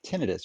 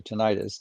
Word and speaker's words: tinnitus: Well, a slight tangent of that is a symptom called tinnitus or tinnitus, depending on which way you pronounce it.